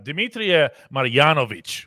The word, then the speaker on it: Dmitry Marjanovic: Yeah, Dmitry Marjanovic, whose name I just pronounced correctly. Yeah, you did.